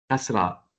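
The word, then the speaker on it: كسرة: fatha comme a et on prononce c'estra comme i donc comme on casse la chose donc kasra Kassra avec le son I et on le trouve sous la lettre.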